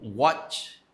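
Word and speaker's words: watt: Então, what pronúncia exatamente essa, what? é a unidade de potência do sistema internacional.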